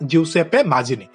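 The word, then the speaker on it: Giuseppe Mazzini: रखिबो जिउसेप्पे माजिनी हला स्पेलिंग भी देखिबो GIU जिउसेप्पे pronounce भी एमिति हबो जिउसेप्पे माजिनी किए थिले इटाली रो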